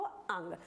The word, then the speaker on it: ङ: इसको बोलते हैं डा और इसको ड़ा और इसको अंग।